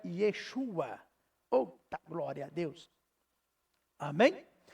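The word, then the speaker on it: ישוע: eh Jesus Jesus e Jesus é uma pronúncia grega porque a pronúncia o hebraico é Yeshua out glória a Deus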